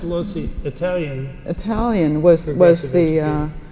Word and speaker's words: Pestalozzi: Well, Pestalozzi, is that how you pronounce it? Pestalozzi, Italian.